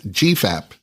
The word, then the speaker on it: GFAP: fibrillary acidic protein or gfap pronounced Gap in the blood Gap